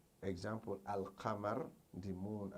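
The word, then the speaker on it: القمر: Example: al-qamar, the moon. Al-qamaru, the moon, is pronounced al-qamar, al-qamaru, al-qamaru. There's no changes there.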